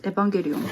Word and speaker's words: Evangelion: I don't know how you should read it, but in Japanese it's Evangelion. And this is 52Hz no Kuchira tachi.